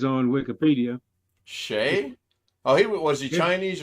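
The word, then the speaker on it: Hsieh: born in Illinois but the pronunciation given on there is that as if it were spelled s-h-a-y huh he retired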